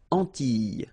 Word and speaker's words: Antilles: So here it's quite interesting because, well, you've got this E and then double L, S. Okay? So final S and E, really you don't pronounce them. So you get this E sound. Antilles.